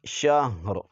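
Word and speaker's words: شهر: دو زیر رن، شہرن، وقفا، شہر، ہا بھی پڑھیں گے اور را بھی پڑھیں گے، جب وقف کریں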